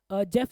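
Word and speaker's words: Geoff: ध्यान रखना मैं आगे इसकी प्रोनाउंसिएशन ना जी ऑफ करूंगा, ठीक है, क्योंकि पेपर के अंदर जब जब मैंने जेफ बोला है ना बच्चों को, तो बच्चे JEFF ऐसे करके या GEFF करके आ जाते हैं। तो उसको मैं जी ऑफ बोलूंगा, वैसे इसकी प्रोनाउंसिएशन जेफ होती है। तो जी ऑफ से आपको ओ ध्यान में रहेगा, तो पेपर में गलती नहीं होगी।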